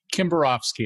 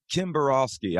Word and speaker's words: Kimbarovsky: me one last time kimborofsky it's common pronunciation kimborowski all right sorry about